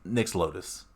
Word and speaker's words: Nyx Lotus: they do something with Nyx Bloom as well. I keep calling it Nyx Bloom. It's just Nyx Lotus. Sorry for everyone's who to hear me mispronounce that the whole time.